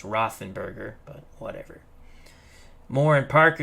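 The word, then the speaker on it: Roethlisberger: element says i don't have to try to pronounce rothenberger actually it's rothenberger but whatever moore and parker your split backs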